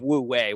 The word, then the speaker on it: wu wei: the hour um the site this concept of woo way which if you want to look it up it's not it's it's spelled w-u and then w-e-i uh and I'm